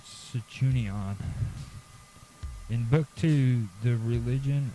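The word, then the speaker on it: Sanchuniathon: the Fenosian theology and Cuni Cenunia is spelled S A N C H U N I A T H O N and then apostrophe S. Okay, which is Sichunion.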